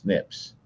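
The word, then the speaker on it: SNPs: Unique event polymorphism and in this case are usually what are called single nucleotide polymorphism or snips pronounced snips.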